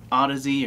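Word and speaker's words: Audeze: equation headphones I'm using these uh Odyssey or Audis depending on where you are in the world and how you like to pronounce them I'm sure they don't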